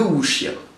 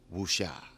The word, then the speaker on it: wuxia: Du coup, aujourd'hui, on va répondre à la question « C'est quoi Wuxie ?» Alors, le wuxia. Oui, parce que première chose, en chinois, les X se prononcent sh.